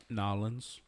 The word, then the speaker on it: New Orleans: before the show okay it is new orleans or new orleans nolan's kettle style that's pronounced nawlins um this one's flavored